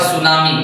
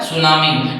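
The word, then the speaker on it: tsunami: एन ए एम आई इसको पढ़ा जाता है सुनामी। क्या बोला जाता है? सुनामी नंबर एट में मैं आपको बताते चलूं पी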